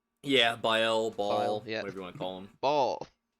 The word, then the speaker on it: Baal: Yeah, Baal, Baal, yeah.